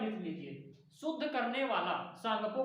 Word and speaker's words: Tsangpo: English में TSANGPO। अब टी यहां पे साइलेंट होता है इंग्लिश वालों में, तो सांगपो कहा जाता है।